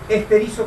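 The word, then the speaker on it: στηρίζω: Ese se pronuncia es esterizo con Z.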